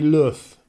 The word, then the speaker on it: Lux: Now we would probably, or I would normally say Lux, L-U-X, but the Spanish would say Luz, which is light, basically. So I think really we need to call it the Sagola Classic Light, although it is spelled L-U-X.